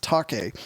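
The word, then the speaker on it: Taake: and take a t-a-a-k-e i believe that's pronounced taki anyway debut album from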